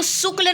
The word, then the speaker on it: शुक्ल: आधारित है याद रखिएगा इसको शुक्ल नहीं पढ़ेंगे इसको शुक्ल पढ़ेंगे बिकॉज इट इज अ तलाव स ठीक है यह तलाव स है इसीलिए हम इसका उच्चारण करेंगे शुक्ल अब आता है डॉक्टर